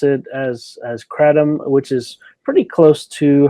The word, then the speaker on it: kratom: commonly used uh you'll hear it called uh katom or ketum or uh katum and so we we like to pronounce it as as crom which is pretty close to how uh the